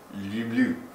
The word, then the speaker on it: люблю: Люблю. Hey, enunciate. Люблю. Okay, but remember, it's not lube. Yeah, it's lube. It's lube with a Y, okay?